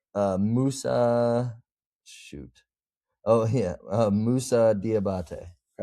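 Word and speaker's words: Moussa Diabaté: Musa Diabate.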